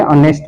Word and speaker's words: honest: H silent होता है इसमें, इसलिए ऑनेस्ट बोलते हैं इसको।